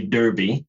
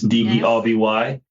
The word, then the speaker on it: Derby: It is pronounced Derby. Americans might say Derby cuz it's d e r b y.